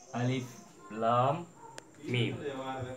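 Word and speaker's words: الم: இப்போ உதாரணத்துக்கு அலிஃப் லாம் மீம், அலிஃப் லாம் மீம்.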